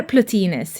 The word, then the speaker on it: Plotinus: in the third Century by platinus or plutines using the ancient Greek pronunciation a central theory of